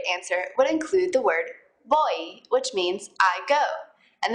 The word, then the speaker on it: voy: bit on the pronunciation in Spanish v's and B's sound a lot alike and they're pretty much just a mixture of the two letters after voy you're going